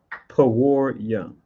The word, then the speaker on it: Purim: and then we have poor young which is how you say Purim in the ancient Hebrew right or if I